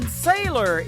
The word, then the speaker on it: Saylor: Making his radio debut on the program, his name is Dustin Saylor. It is spelled just like Taylor. Substitute the T for an S, and there you go.